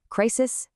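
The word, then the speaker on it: crises: The plural of crisis is not crisises. It's crisis. And listen to the pronunciation change. Crisis to crisis.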